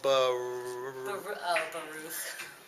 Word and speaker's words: Baruch: How would you pronounce that? Keychain No, what? It would be the Baruch.